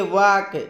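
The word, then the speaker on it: walk: हमारा अगला मीनिंग है डब्लू ए एल के वाक यहां पर ए साइलेंट हो जाता है और इसकी उच्चारण होती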